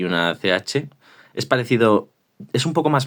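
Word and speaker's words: Ч: Este 4 redondito, que se parece a un 4, es la che, de chocolate. Y se pronuncia tal cual, che.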